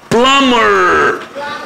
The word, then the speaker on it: plumber: بلامر. وعندي حرف البي هنا سايلنت عشان قبله ام.